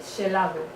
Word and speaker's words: gelado: Já sei que galego oficial é xeado, mas eu disse ler português a galega, portanto é xelado. É o que está aí escrito.